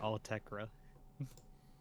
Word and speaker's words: Autechre: It seems like it's actually pronounced Altekra.